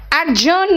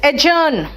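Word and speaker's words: adjourn: रंग इट is adjective एडजर्न नहीं है इट्स एजन एडजर्न नहीं है इट्स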